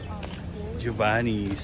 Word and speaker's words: Giovanni's: Okay guys, next stop from Waimea with waterfall is Giovanni's.